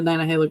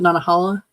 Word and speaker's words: Nantahala: I really like just going through the gorge, because the Nantahala Gorge. Some people might pronounce it Nantahala, but it's Nantahala.